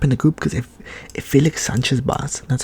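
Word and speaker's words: Félix Sánchez Bas: Realistically, I see Ecuador top in the group because if Felix Sanchez Bas, that's how you pronounce his name, if the Spaniard can get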